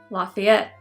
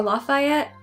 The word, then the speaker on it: Lafayette: of, you guessed it, Lafayette. Or Lafayette, we pronounce it differently down here.